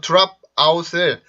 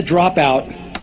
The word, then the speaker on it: drop out: 근데 여기에서 drop out을 drop out이라고 하는지 drop out이라고 하는지 들어보세요. So I decided to drop out. 어때요? drop out인가요? drop out인가요? 된소리 느낌이 강하죠.